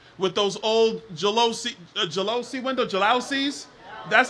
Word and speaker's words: jalousie: My wife and I, when we first got married, we had a 1,200 square foot apartment with those old jalousie windows, jalousies? That's how you pronounce it, the jalousie windows.